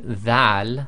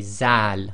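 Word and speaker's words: ذال: A lot of countries, they pronounce this as a Z sound, so instead of saying dhal, they say zal, which is wrong.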